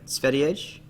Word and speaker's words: Sverige: Sverige. Oh, Sverige. Sverige. Okay. So there's no G sound.